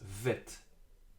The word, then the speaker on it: Vet: As you remember, the letter Bet from the previous lesson, whatever Bet has no doubt in it, no dot, we read it as Vet, V.